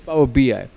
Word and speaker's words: Power BI: beer because power bi is it power b or power by how do you say that power bi it's power bi okay business intelligence or